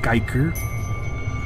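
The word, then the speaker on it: Giger: Or Geiger, but it's pronounced Geiger.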